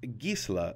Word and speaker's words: Gisela: your pre-release listen closely and learn how to pronounce those angels real quick just so you know gisla and Bruna along with sarda are old Germanic